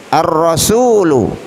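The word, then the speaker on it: الرسول: alhusain ra laki-laki ar-rasul Ar Rasul artinya Rasul atau utusan Allah ya seorang utusan Terus kenapa Alya tidak dibaca karena roh ini termasuk daripada huruf Syamsiah maka dibaca dengan cara bacaan ar-rasul Hai berikutnya Al wajahmu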